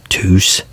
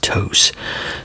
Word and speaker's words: Tous: And so But this is Tous. Tous. Now, some people say it toos. Some people I've had people say it's pronounced too, but from but it's a Spanish company, so it's pronounced Tous.